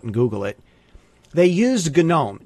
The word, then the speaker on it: GNOME: Google it they used gnome g n o m now these guys decided you're supposed to pronounce the GN as a g so I'm mispronouncing about